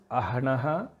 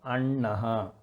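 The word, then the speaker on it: अह्नः: Next is Ahnaha becomes Annaha.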